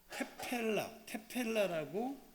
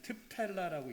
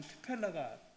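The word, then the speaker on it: תְּפִלָּה: 사실은 여기 있는 요거는 굉장히 약한 발음입니다. 그래서 일반적으로 이제 저희들이 좀 히브리어를 잘 아는 사람이 읽을 땐 트펠라라고 읽습니다.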